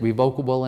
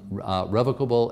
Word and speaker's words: revocable: that even pronounced right isn't it revocable and irrevocable so first of all the two pronunciations if you go to the dictionary are actually both valid I'm going to call them revocable and irrevocable because that's